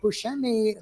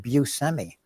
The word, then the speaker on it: Buscemi: Growing up, we said Buscemi, which is like I can't even do that anymore. So now I say Buscemi. You said Buscemi. I sort of take a little bit from each pronunciation.